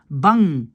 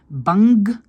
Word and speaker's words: bang: Donc ça NG, c'est un son.